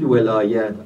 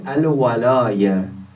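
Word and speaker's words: الولاية: By the way, the common mistake, they pronounce it walayat. Often I may say this as a common mistake. But the proper Arabic is al-walaya.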